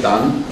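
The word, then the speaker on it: Tan: Grandmaster wrote it Tarn in the book, but you pronounce it Dan.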